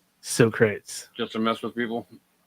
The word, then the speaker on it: Socrates: Sometimes it's fun to say them wrong, like Socrates instead of Socrates. Socrates.